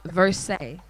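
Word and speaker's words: Versae: but without the c you say versace but if you take out the c try to pronounce that versace without the c four almost verse say verse verse say verse say is my real name so i was like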